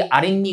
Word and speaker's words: 아랫니: 니은으로 적게 돼서 이거는 아래 더하기 이의 구조가 아니라 아래 더하기 니의 구조고. 그래서 아랫니로 발음되는 건 니은 앞에서 앞말의 받침에 뭐가 덧나는 형태, 니은이 덧나는 형태와 관련이 되는 겁니다.